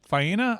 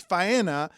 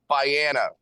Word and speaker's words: Faena: So are you sure it's Faena in Miami Beach and not in Dania? Yes, it is. Fiana. Okay, that's not pronounced correctly.